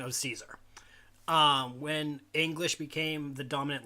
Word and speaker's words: Caesar: gr it's CEA so we say Caesars that a Kaiser but the Latin would be guys are which is really it's